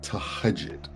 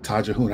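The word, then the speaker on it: Tahajjud: And Amina Rocher talked about something called Tahajit. I called it Tajahoon. I know how to pronounce it. So Tahajit. Tahajit.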